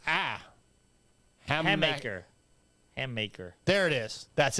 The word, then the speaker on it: Hammaker: Hammaker.